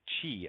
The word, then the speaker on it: chi: The letter X is the Greek letter chi, which sounds like key, or can be pronounced chi as in cheetah.